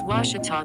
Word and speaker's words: Ouachita: How would you pronounce it? Ouachita. It's Ouachita Baptist University. Get it right. It's Ouachita, people. It's Ouachita. Ouachita.